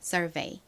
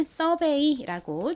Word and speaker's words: survey: 그리고 끝에 VEY 부분은 V가 진동이 들어간 비읍소리 V 소리 나고 EY가 A 소리 나서 연결하면 survey가 됩니다. survey. 한국식으로는 survey라고 주로 표기하고 발음하는데요.